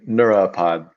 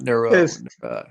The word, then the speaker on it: Neura Pod: How do you pronounce it? Yeah. Neuropod. Yeah. Not neuro.